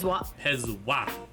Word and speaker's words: Pazuah: I've always went Pazuah. So the oo is more of a wah.